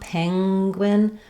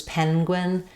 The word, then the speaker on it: penguin: I think it's very common to hear that NG sound penuin versus penguin, it's about the back of the tongue lifting rather than the front. Either one is acceptable, but one thing to